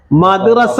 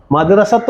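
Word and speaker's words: مدرسة: ഏത്, ഈ അവസാനം നിർത്തുമ്പോൾ എങ്ങനെയാവും, മദ്റസ എന്നേ പറയത്തുള്ളൂ, മദ്റസത്ത് എന്ന് പറയത്തില്ല. ഈ താ അവസാനം ഉച്ചരിക്കുമ്പോൾ എന്തായി മാറും, ഹ ആയിട്ട് മാറും.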